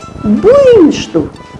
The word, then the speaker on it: буйнашду: Значит, буиншту а пишется буйнашду.